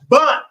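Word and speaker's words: בן: Son of Judah, son Bun. So son is Bun. Okay, and you can think it rhymes. Son Bun.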